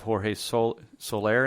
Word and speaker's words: Jorge Soler: I think we'll have some time to quickly touch on the undervalued guys, which I know you have Jorge Soler in there. Is that how you pronounce it?